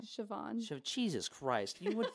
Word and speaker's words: Siobhan: Ali Beardsley Zach oyama and then ciabon right Siobhan so Jesus Christ you would think with as